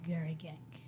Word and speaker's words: Garriguenc: It is very French. I had to Google it. The Google says the pronunciation is Garagank.